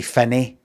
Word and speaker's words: Finnie: Finn and crane instead of cran fine to rhyme with me. Even though we say Finny, we say Finny here.